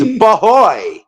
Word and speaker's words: bahoy: It's bahoy. Like Ahoy.